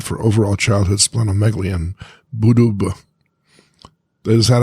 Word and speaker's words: Bududa: Griffin's estimate for overall childhood splenomegaly in Buduba. Is that how you pronounce it? Bududa? Bududa.